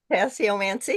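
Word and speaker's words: tasseomancy: And um am I pronouncing this correctly? Tessommancy. Tessommancy.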